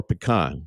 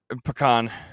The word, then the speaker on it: pecan: Now, for you, is it pecan or pecan? Which one is it? Pecan. It's pecan. Yeah, that's the right way to say it.